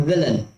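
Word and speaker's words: villain: तो ये होता है उसका सही उच्चारण विलन।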